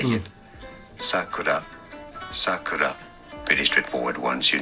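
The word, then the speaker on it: 桜: If it's a name of a child, it's sakura, so high to low. But if it's the cherry blossoms, is sakura, the opposite, sakura.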